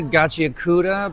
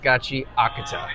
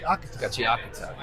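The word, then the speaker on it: Gachiakuta: So, uh, some people say Gachiuda, but it's it's kind of like gachi aata. Gotcha. Gachiata.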